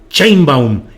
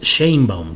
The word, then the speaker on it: Sheinbaum: que no sea Claudia Sheinbaum. Ya por aquí Fernando Gutiérrez Ramírez en el chat me dice, amigo Julio, te ves muy silvestre diciendo Sheinbaum, es Sheinbaum, te ves muy de San Luis.